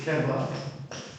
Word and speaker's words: keva: But I want you to know, when Heschel would teach, he taught it keva and kavanah.